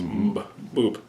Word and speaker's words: Mboob: But MB as a sound, I don't think it really exists in English as a letter, but it's boop. Boop. It's M and B are a approximation of a noise, so it's a struggle.